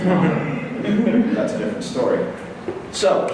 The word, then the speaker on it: Maher: Someone like Bill Maher, or Bill Maher, proper Irish pronunciation is Maher.